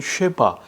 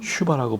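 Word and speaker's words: שווא: 옛날 히브리어 문법책에는 쉐바 또는 쉐와라고 나오는데 현대 히브리어 이스라엘에서는 슈바라고 발음을 해요.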